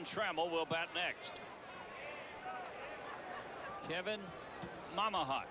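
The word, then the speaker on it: Mmahat: Kevin Mamahat is the way you pronounce that, they tell us.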